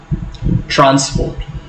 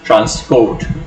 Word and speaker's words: transport: It is important to know that when you are using the word transport, if you are using it as a noun, you have to put the stress on the first syllable. Transport is a noun. And if you are using it as a verb, you have to pronounce it as transport.